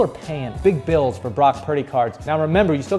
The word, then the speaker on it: Brock Purdy: quarterback on his team his name rhymes with rock sturdy Brock Purdy I'm talking about Brock